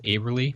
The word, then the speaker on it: Aberly: He said it rhymes with neighborly, so I guess it's Aberly.